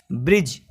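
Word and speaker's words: bridge: आता है तो क्या साइलेंट रहेगा का यदि साइलेंट रहेगा इसी तरह से इस एक्ज़ांपल है ब्रिज इसमें जी से पहले दिया या भी आदि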